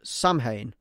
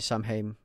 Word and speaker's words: Samhain: Now, obviously, we know that the word, although it is spelt like Samhain, is not actually Samhain. It is Samhain. Samhain is the true way to say the word, and it comes from